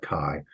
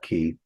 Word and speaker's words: chi: They'll call it chi, but we'll call it key.